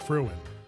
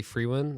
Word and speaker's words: Frewin: that we introduced fruin what is up what's up man hello I was kind of worried you going to say my last name wrong what people do they say free win I don't know yeah